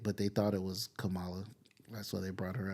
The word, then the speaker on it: Kamala: Gonna Get Us canceled what is it it's Kamala you saying they like the wrestler the wrestler Kamala you saying like the wrestler I put the wrong emphasis on the wrong salable um and here's another